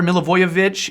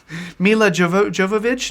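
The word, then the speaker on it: Milivojević: ward playing outside back there a James MacArthur mill avoid vich who I'm so happy to be able to say his name and not butcher it the way I used to get millage of no Milla Jovovich no no Milla voyage coup yacht a Meyer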